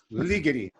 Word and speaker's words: Ligeti: she would yell, "Ligeti, ligeti." Her point being that she likes Hungarian speech rhythms where the accent is on the first syllable.